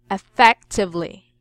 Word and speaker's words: effectively: second syllable I mean the stress must be on the second syllable effect effectively effect yes so if you